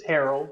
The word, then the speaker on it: Harrell: do you say your last name it is harold but almost everyone i talk to takes this